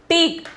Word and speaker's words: ठीक: Then the seventh one is teak. Teak. The pronunciation is teak.